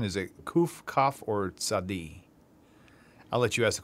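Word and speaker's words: צדי: Kuf, Kaf, Tzadi. T-S, like cats in the roof.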